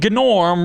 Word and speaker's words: Gnorm: from the underworld and apparently they pronounce the G's in the Underworld cuz it's pronounced gnome and gorm respectively I'm pretty sure they